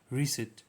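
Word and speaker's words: receipt: तो the silent letter in the word is पी। इट इज not pronounce making the word some like रिसेट।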